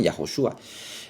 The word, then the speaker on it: Yahoshua: O así se pronuncia Josué, Yahoshua.